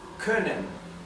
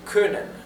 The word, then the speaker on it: können: Ahora la o con diéresis, la o umlout se pronuncia como un sonido intermedio entre una o y una u.